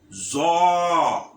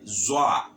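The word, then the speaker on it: ظ: This is zo. Zo. Someone may say zoa. So zo. Zo.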